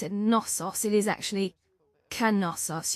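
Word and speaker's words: Knossos: That's a K N O S O S. And you don't pronounce it pronounce it nosos. It is actually Canos. You pronounce the K. It's not silent like normally.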